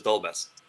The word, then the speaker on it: Dolbez: It doesn't Oh, have an official pronunciation other than the way that I Dol- and all my friends say, which is Dolbez.